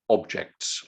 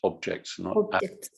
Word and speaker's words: objects: have improved a lot don't forget the russian english problem of pronouncing that as an ah we don't do that it's objects objects yeah please thank you